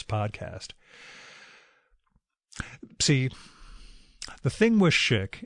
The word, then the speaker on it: Szyk: See, the thing with Schick, and it's spelled S-Z-Y-K, not Schick like the razor.